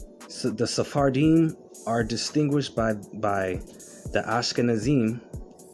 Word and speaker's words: Sephardim: Sephardim, so it's three words, three syllables. Sephardim, like Adanim, which is Hebrew in origin.